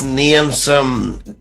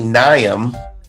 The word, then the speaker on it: Niamson: it tastes I'm looking for blood and that's neum some um you know what I said his name wrong I've learned this in the interview it's ngayon some no ruin okay his name is actually nyam and he told me the story watching the